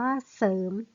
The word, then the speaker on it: เสริม: เพื่อ ปรับ รอ เรือ จะ อ่าน ออก เสียง สอ เสือ ตัว เดียว คำ นี้ อ่าน ว่า เสริม นะ คะ คำ ว่า